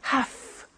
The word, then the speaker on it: have: pronunciation i have to notice i don't say v i say f have half it becomes have to have to becomes